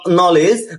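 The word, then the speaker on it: knowledge: উচ্চারণ দন্তান্য একইভাবে কে এন ও ডবলিউ এলইডি নলেজ নলেজ অর্থ জ্ঞান এখানে কে আর এন উচ্চারণ কি হয়েছে দন্তান্য কে এন আই এফই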